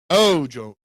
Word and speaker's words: Ojomo: First syllable has the greatest enunciation. Ojomo.